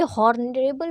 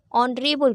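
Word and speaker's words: honorable: अब ये हॉनरेबल person नहीं होता ना। हॉर्न नहीं होता ये। यह ऑनर होता है। ऑनरेबल person. ठीक है? इसे हम पढ़ते हैं on rebel. ऑनरेबल person H is silent.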